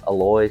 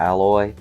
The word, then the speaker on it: Aloy: I believe the name might be pronounced Aloy since there's only one L there as opposed to alloy.